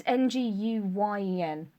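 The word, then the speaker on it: Nguyen: name from BoJack Horseman and they pronounced that n it's ngu Yen and I think he's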